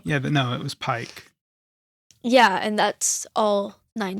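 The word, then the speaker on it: Pieck: Oh, it's spelled P I E C K. Yeah, like Petra, I guess. Petra or No, no, you're thinking of uh Pike. Yeah, Pike.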